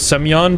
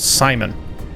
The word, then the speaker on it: Semyon: You know, I should have figured it was Semyon, but I didn't think it would be pronounced that way, so I just went with Simon.